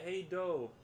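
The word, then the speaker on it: Hej då: Carolina says, "Hey, oh yeah, hey Doe. Is it? Did I say that right? Hey Doe. Everyone on this side. I think it was hey Doe pronounced. The pronunciation in Swedish.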